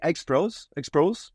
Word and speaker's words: Exproz: I say Exproz. Okay. Every MC they try to they ask me before it, but I said just pronounce it the way you want, But yeah, Exproz is the proper way to say it.